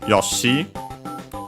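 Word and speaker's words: ヨッシー: Then we have Yosi which is Japanese name. Uh notice only the doubling of the consonant and the longer vowel.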